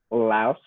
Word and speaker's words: Lao: way to say it like it's like so laos and we speak lao not laotian no that's